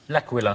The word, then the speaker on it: L'Aquila: L'Aquila. Laka laka squawkalaka. I could never pronounce that word. That's okay. It is a night of bad Italian impersonation, so we'll let you in. But it's called L'Aquila.